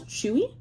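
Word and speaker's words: Tzuyu: lot of them are pronounced as chewy so her name is chewie i'm not like reading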